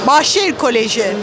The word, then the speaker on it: Bahçeşehir Koleji: Bahçeşehir Koleji.